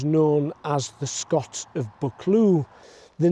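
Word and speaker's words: Buccleuch: A ravine is called a clue in Scotland and a young male deer is known as a book.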